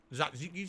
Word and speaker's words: tzatziki: Tzatziki sauce, that's how you say it, tzatziki.